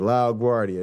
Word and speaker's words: LaGuardia: name though he always thanked me for uh pronouncing it right lao guardia there you go you can buy it from